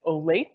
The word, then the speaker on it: Olathe: from Oregon I've been corrected on how to pronounce it it's Olathe a suburb of Kansas City so welcome and